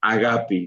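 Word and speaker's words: ἀγάπη: Pues bueno I Happy escucharon todos agapi no no no sé griego hebreo mucho menos pero pues bueno así es como se pronuncia en su original y pues bueno si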